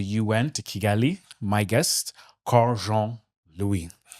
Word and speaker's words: Karl Jean Louis: Haiti to the UN to Kegali, my guest Carjon Louie.